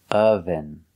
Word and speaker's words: oven: We cannot say oven. I can't turn on the oven. We use the short sound like cup and up. We say relaxed sound. Oven. Oven.